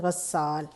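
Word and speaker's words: غسّال: تو یہ غسال، غسال، غین زبر سین غس، سین زبر الف سا، لام ساکن غسال۔ آگے ہے زحمت، زے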